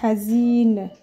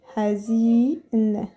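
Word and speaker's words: حزين: on appelle ça hazine alors ça fait ha Z on a I il a elle fait le rôle de voyelle qui va venir allonger le son de I hazine et à la fin on va venir attacher n comme ça hazine c'est quelqu'un de triste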